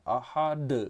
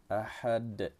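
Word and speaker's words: أَحَد: Ada yang bacanya ahad, nah gitu, jangan seperti itu ya. Ahad. Qalqalahkan. Dan jangan pula sampai tidak diqalqalahkan. Ada juga yang bacanya ahad. Qulhuwallahu ahad, katanya. Ha ini juga harus hati-hati. Ha ya, ahad. Artinya satu. Jangan sampai menjadi huruf ha saja, ahad. Ahad, itu cara baca yang betul.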